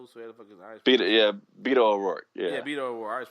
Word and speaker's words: Beto O'Rourke: I always pronounce it wrong. Betos, whatever the fuck is it? Beto O'Rourke.